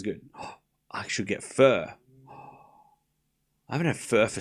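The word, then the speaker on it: phở: It's not fur. It's pho. Anyways, 15 love. 15 love. It's pronounced fa.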